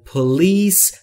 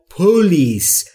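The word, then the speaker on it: police: یعنی ایستگاه یعنی پلیس در مورد تلفظ پلیس دقت بکنید دوستان اکثر زبان آموزها به جای اینکه بگن پلیس میگن پولیس یا مثل هتل باید تلفظ بشه میگن هتل استرس روی بخش دومه یعنی روی لیس در پلیس پلیس یعنی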